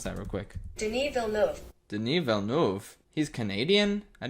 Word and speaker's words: Denis Villeneuve: I'm gonna look up how to pronounce that real quick. Denis Villeneuve.